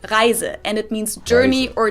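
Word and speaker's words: Reise: to give a couple examples this word is pronounced riser and it means journey or trip but when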